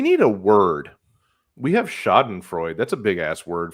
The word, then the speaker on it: schadenfreude: going to not say schadenfreude because that's what avenue q taught me off pronounces it shot and freuda you need to listen to the song again good god anyway everyone everyone's